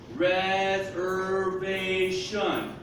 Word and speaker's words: reservation: Where's the fourth tone? Reservation. Here. The V sound. Remember in English, when it's 2 or more syllables, I'm going to have somewhere where the sound breaks in English, and there'll be a fourth tone. It's here with the V.